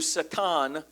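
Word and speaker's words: שָׂטָן: That's what the word Satan or it's pronounced in Hebrew, Satan.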